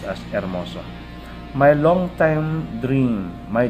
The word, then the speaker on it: hermoso: salute salute so again letter h is not pronounced okay it's silent instead of hermoso it's pronounced as ermoso my long time dream